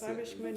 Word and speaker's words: Schwäbisch Gmünd: Did I pronounce it correctly? Yes. Schwäbisch Gmünd. Very I've been good. practicing in the mirror every day. Yes. Okay. Schwäbisch Gmünd.